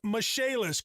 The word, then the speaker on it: Michaelis: restoration and insurance restoration spelled m-i-c-h-a-e pronounced mishaelis call 844 fix indy